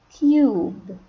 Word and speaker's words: cube: and there will e that we call it the magic e at the end of the word when they are together in a word we pronounce it you it will be you we say cube cube nut cub cube